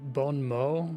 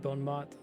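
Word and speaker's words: bon mot: Is it bone mo, not bone mouth? French is like pick a consonant, you probably don't pronounce it.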